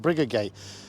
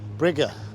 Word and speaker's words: Briggate: Now this, we all pronounce it Briggate, and it is pronounced Brigger, it says, from what I found.